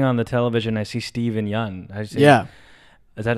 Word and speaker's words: Steven Yeun: Like, when I'm turning on the television, I see Steven Yeun. Is that how you say his name? Yeah, Steven Yeun.